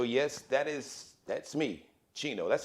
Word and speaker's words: Geno: daily variety show yes that is that's me chino that's how you spell sometimes people want to spell it with a that's it g-e-n-o the gino jones uh daily variety show we do the